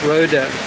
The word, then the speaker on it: Rohde: Snow lion, it's spelled R-O-H-D-E, Rhoda.